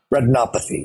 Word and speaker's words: retinopathy: I had a disease called diabetic repy am I saying it right retinopathy yes and so why